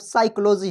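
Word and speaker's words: psychology: देखने वाली बात है साइकोलॉजी का स्पेलिंग ध्यान से देखिएगा आप लोग पी से स्टार्ट हुआ है यस से प्रोनाउंस कर रहे हैं ठीक है तो साइकोलॉजी हो गया फ फिजिक्स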